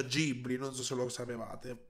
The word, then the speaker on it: Ghibli: Vabbè che in Giappone si pronuncia Ghibli, non so se lo sapevate.